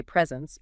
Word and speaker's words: present: of a word okay think about the word present like if you're talking about a gift you'd say presents emphasizing the first syllable but if you're talking about giving up a presentation you'd say present emphasizing the second syllable wow that's a subtle